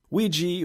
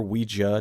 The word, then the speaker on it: Ouija: Ouija, or Ouija, depending on how you say it, Origin of Evil, is a very solid horror film.